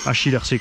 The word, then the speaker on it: HIRC: HIRC comme ça se prononce. Pas de piège.